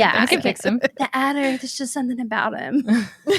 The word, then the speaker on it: Attor: The Adder, there's just something about him. The Attor. Yeah, that was another pronunciation, the Attor, which I just assume, okay, I guess that's what she meant.